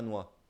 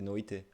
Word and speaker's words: noite: Il y a tout qui se prononce, j'imagine. Ça fait pas noix. C'est noite.